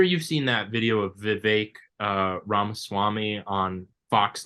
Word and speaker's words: Vivek: all right my name's Vivek rhymes with cake my name's Vivek it rhymes with cake it ain't about thee